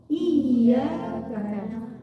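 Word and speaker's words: إِيَّاكَ: Jadi kalau iya bertasydid, cara bacanya iyyaka.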